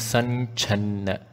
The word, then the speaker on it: सञ्छन्न: नखदीधिति नखदीधिति संच्छन्न संच्छन्न Now the M sound here can be changed to an inch, so it becomes sanchanna. This is part of the Anuswara Sandhi.